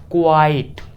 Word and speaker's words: quite: है इसकी pronunciation Q यू आई टी ई क्वाइट जी हां पहला example the movie was क्वाइट